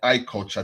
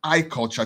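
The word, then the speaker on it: I Kulcha: go on Roku search I culture TV iculture is spelled i-k-u-l-c-h-a just like radio culture right it's a sister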